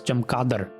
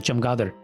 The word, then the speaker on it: chamgadar: I've always thought the word bat was chamkadar with a K instead of chamgadar with a G.